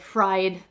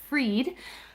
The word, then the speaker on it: Fried: reading this yesterday that fried was not right even though that's how it's spelled and as someone with a